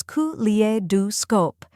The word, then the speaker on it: Kaleidoscope: after that we have scope which sounds like scope as in the end of the word telescope now let's put it